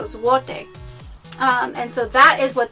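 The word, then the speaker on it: złoty: or a different number zuote is a type of a type of money in poland i probably pronounced that wrong but i know that the l you say like a w so zuote and so that is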